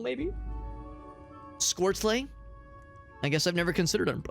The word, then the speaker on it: Squirtle: I pronounce it with the word squirt and then an ol at the end. To be honest, I've never considered other pronunciations. Maybe like Squirtle, maybe? Squirtlay?